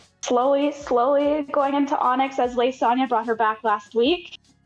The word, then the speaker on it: Lisilsanya: It's also Lisilsanya. That is how you pronounce it. Some people say lasagna. I've been playing roleplay for a couple of years now. I did Lisilsanya in the SDS Zone 3.0.